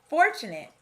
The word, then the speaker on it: fortunate: I noticed the schwa sound in fortunate, and the 8 sound in relate, skate, Nate, Kate, and late.